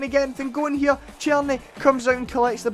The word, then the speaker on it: Tierney: Aye, Tierney, that's how you pronounce it.